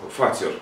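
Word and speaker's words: فاطر: Вот, у меня хлеб здесь, оказывается, правильное произношение его фатер, я фатир думал, фатир, ну, нет, фатер. Оказывается, это, значит, с арабского, вообще с семитских языков, но это с арабского в частности, вот, это творец, создатель,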